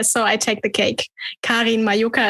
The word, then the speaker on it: Karin Majoka: i take the cake kareen mayuka is how you pronounce it but um but i